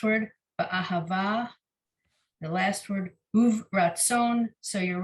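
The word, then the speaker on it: וברצון: See, I've always said this word uvratzon. I have to be uvratzon, but maybe the pronunciation we're learning, the shva under the vet would be the end of the syllable, and it'd be uvratzon. Yeah.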